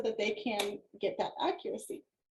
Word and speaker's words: Accurasee: Oh, accuracy, but it's spelled ACCURASEE, accuracy.